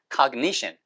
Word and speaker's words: cognition: cognition. cognition. cognition. 션 바로 앞에 액센트 있고요.